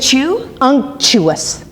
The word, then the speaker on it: unctuous: there it says uous we were saying it wrong is it chew uous right wait let's check